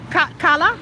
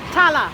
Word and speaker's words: Tala: Kala? Tala. Tala. Yes. I said it right?